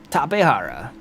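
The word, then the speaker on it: Tapejara: hey tapara nice and I am not ashamed of the way I pronounce that tapara it's a South American Discovery named by people who spoke Spanish most likely so that's that's how they pronounce it sorry about that guys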